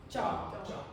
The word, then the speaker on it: cho: And the CHO, how do you pronounce that? Da. Da. Jaw.